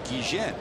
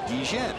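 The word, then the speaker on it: Guillén: came up I remember he pronounced his game Gan you remember that and it came up and I went up to him and asked him I said said how do you want your name pronounced cuz in Venezuela it was gien and everybody was calling him Azie Gan he says I don't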